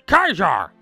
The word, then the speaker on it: Caesar: I called it Caesar's Legion, because in America, you pronounce it Caesar. They're like, no, it's Kaiser. It's like, fine. I'll pronounce it Kaiser then.